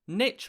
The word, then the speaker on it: niche: can but fill my niche i attempt no higher pitch rhyming the word with pitch and suggesting that at least one misogynist and would-be executioner was pronouncing it this way in 1733.